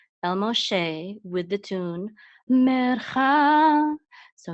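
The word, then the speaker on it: משה: It is to say that this letter is a shin instead of a sin, and it's also to say that the vowel that goes after the mem is an o sound. So this is Moshe, Moshe.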